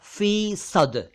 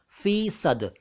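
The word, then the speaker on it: फ़ीसद: प सेंट प्रति शत तो उर्दू में यह होगा फी सद फी सदी नहीं होगा फी सद तो प्लीज आगे से फी सदी या फीसद नहीं कहा करें सही उच्चारण है फी सद तो शद अलग हुआ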